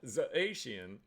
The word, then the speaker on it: Zacian: It's pronounced Zacian. Zacian.